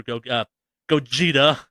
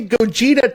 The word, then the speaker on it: Gogeta: Dragon Ball Super Broly and Dragon Ball Super Gogeta. I want to pronounce it I pronounce it Gogeta for a fucking decade.